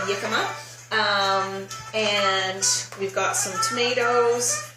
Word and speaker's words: jicama: It's jicama, jicama. Proper, I'm not Mexican, but that's how you say it, jicama.